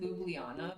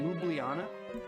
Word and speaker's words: Ljubljana: I pronounce it Ljubljana, but I Ljubljana.